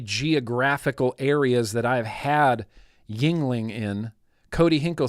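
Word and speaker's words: Yuengling: That tracks with the geographical areas that I've had Yingling in. Cody Hinkle says it's pronounced, Yingling.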